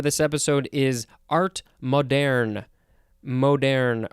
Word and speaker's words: moderne: Moderne, or I think it's moderne, because it is spelled M-O-D-E-R-N-E.